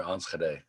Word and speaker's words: Enschede: of uh nidaland in uh an area near enschede wow that's perfect pronunciation too well that kind of sticks with